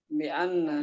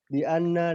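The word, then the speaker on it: بأنّ: Kalau begini jangan bacanya bi'an. Jangan disukun tapi bi'anna.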